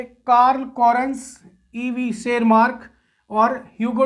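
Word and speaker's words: Tschermak: शेरमार्क, T silent है, ये ध्यान रखिएगा, टी साइलेंट है।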